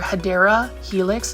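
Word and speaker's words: Hedera helix: absolutely stunning and then obviously we've got that hedra Helix spear Point Ivy or hadera Helix is how you pronounce it but I like calling it hedra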